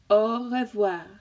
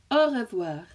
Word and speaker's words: au revoir: And the pronunciation of it, so we can practice that together. So au revoir, au revoir, au revoir, au revoir.